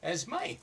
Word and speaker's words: Esme: to talk to asme is it asme or asme asme asme okay the E is an a right mhm okay Accent on the end all right so uh